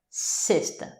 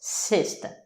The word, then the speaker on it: sexta: Sexta. Sexta. Les X ici ont un son de S. Sexta.